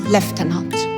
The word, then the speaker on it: lieutenant: I remember vividly that I couldn't pronounce the word lieutenant, which in British accent is pronounced lieutenant.